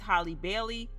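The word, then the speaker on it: Halle Bailey: It's Holly Bailey, like Holly Berry.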